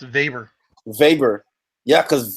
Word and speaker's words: Weber: It's not actually pronounced Weber. It's pronounced Vber.